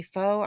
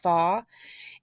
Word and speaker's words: pho: the pho soups and I used to always say faux I was saying it wrong for so many years but it's called thaw and um you can